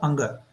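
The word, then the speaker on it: ङ: Okay, and when we analyze this letter, you can see 5th letter of the first row, ka, kha, ga, gha, anga.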